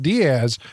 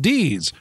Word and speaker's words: Diaz: ask if it's pronounced Diaz and I say no it's pronounced deeds as in Deez Nuts laughing hearing you joy